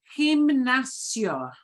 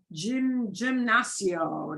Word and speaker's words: gimnasio: And it is like our word, but it is pronounced differently, all right? So it's pronounced gimnasio. Gimnasio. Gimnasio. Gimnasio. Sí, gimnasio. No es correcto. It is not correct. They see gymnasio. No, that's not good.